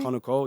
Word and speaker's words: Konnakol: Konnakol, did I say that correctly? Konnakol, yeah, exact pronunciation, yeah.